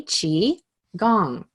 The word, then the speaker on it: qigong: talk a little bit about Chiang so it's pronounced as you've heard me say a few times already chi gong and Chi equals energy and gong is to